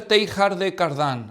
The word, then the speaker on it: Teilhard de Chardin: modernistas que se llama pierre teilhard de chardin así se pronunciaría un francés bueno con un acento